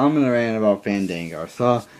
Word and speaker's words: Fandango: gimmick I'm not going to wrestle unless you pronounce my name right and it was his name was Fandango Fandango and uh I guess he thought his name was fangle or whatever the you know